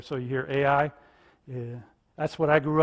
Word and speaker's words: Ai: we've proven that this is the city of Ai, or I. The A is silent in Hebrew, so it's actually I when you hear. So you hear Ai.